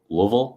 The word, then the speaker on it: Louisville: pronounced yeah I uh I have to remember just to ignore half of the letters in that word uh and get it